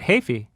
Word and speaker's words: Heafy: The weird choice back then was Matt Hafey from Trivium. It's Hafey, not Heafy, people. Say it right.